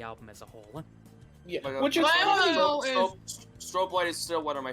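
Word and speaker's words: Strobelite: I put strobe I like I've heard this pronounced both ways as strobe light or strobe Elite and I'm like I don't care it's like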